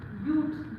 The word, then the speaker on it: ब्यूट: आप क्या यूज करेंगे, ब्यूट। वैसे तो बट प्रोनाउंसिएशन होती है इसकी, बट हमने यहाँ पर बट नहीं बोलना, ये यहाँ पर ब्यूट की प्रोनाउंसिएशन जो है वो देगा।